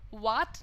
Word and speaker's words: watt: जो यूनिट होता है, उसको आप वॉट बोलते हैं, राइट? तो वही वाला प्रोनाउंसिएशन लगाए ना, वहाँ भी लोग वाट बता देते हैं, तो वाट लग जाती है प्रोनाउंसिएशन की इस तरह से।